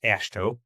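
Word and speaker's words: AASHTO: yeah uh it's uh the acronym is typically pronounced ashto it's the ash standard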